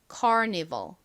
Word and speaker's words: Carnival: 실제 영어 발음은 carnival, carnival 이렇게 발음이 나고요.